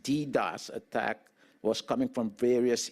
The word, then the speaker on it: DDoS: it was a distributed denial of service DDOS pronounced DDOS attack was coming from various International ISP internet